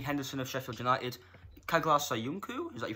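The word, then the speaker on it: Söyüncü: So you've got Dean Henderson of Sheffield United, Kaglar Soyuncu, is that you pronounce it? Yeah, Soyuncu.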